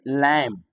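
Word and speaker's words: lamb: जैसे लैम्ब, जबकि बी हमको नहीं पढ़ना है इस समय, जबकि लिखने में बी होगा।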